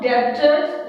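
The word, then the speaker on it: debtors: आप ध्यान रखेंगे यहाँ पे बी साइलेंट है, इट्स नॉट डेटर्स, इट्स डेटर्स। डेटर्स बोलेंगे आप इसको।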